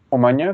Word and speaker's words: Omaña: Omaña, con ñ, no con n. Ajá, con ñ. Lo que pasa, sí, yo lo pronuncié ahorita como maña.